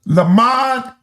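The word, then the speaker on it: למד: and and anything of that nature is pronounced lamad or la.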